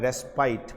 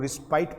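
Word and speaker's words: respite: वो वर्ड छपा है रेस्पाइट। पहले तो उसका प्रोनाउंसिएशन देख लीजिए बेटा। इसको आमतौर पे लोग रिस्पाइट पढ़ते हैं, नहीं गलत पढ़ते हैं। ये रिस्पाइट नहीं होता, रेस्पाइट होता है।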